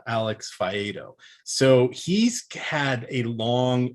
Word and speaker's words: Alex Faedo: I've even listened to his name this morning so I could pronounce it. Alex Faedo.